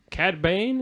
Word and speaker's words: Cad Bane: Number 4 was Cad Bane. Is that how you pronounce it?